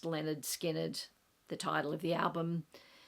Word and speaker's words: Lynyrd Skynyrd: The last one, the bonus 11th album, is the debut album by Lynyrd Skynyrd, pronounced Lynyrd Skynyrd, the title of the album.